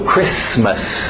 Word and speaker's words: Christmas: Alright, do outro lado, Christmas, o T é mudo, Christmas, não tem medo dos S's, Christmas. Easter.